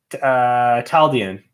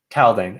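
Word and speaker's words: Taldain: Taldian? The White Sand planet. Anyway, I stumbled over the mispronunciation because there are some nice slight spelling changes that reflect the fact that everything in Roshar is spelled in a way where it's so symmetrical. And so that makes sense here where it's like Nalithis or Scadrial or something like that. Taldane makes sense to misspell it to make it a little more Rosharan.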